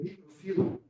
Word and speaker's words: microfila: com folhas do tipo microfila, por favor, gente, a pronúncia correta é microfila, megafila, tá bom? Eu já vi livros acentuando essas palavras. Não, a forma correta é sem um acento, tá?